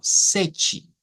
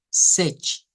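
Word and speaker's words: sete: sonido de una ch entonces significa que el número s nosotros lo vamos a pronunciar como sechi sechi entonces en esa palabra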